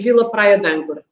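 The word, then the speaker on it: Vila Praia de Âncora: Kind of eliminate the E on the D, and we say Vila Praia d'Âncora.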